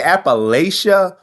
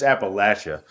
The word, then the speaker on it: Appalachia: Like what does J.D. Vance say? Appalachia? No, man. It's Appalachia.